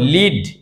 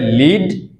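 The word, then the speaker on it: lead: আমরা যদি একটু এক্সাম্পলে খেয়াল করি যেমন লিড। এই যে শব্দটা এই ওয়ার্ডটা এটা যখন ভার্ব হবে তখন হবে লিড।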